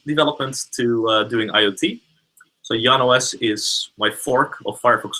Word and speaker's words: Jan: hi my name is Yan not Jan I'm sorry sorry my